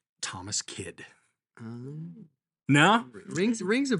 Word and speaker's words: Kyd: the life of Thomas Kidd today and that's spelled kyd so okay would you have gotten that right on the quiz no no no it's not phonetic I'm out I would